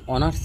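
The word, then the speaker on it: honours: হি ইজ অ্যান অনার্স graduate, এখানে এইচটা ওর মতো উচ্চারণ হচ্ছে, অর্থাৎ অর মতো উচ্চারণ যদি হয় সেক্ষেত্রে আমরা অ্যান বসাবো, তাহলে এখানে হবে হি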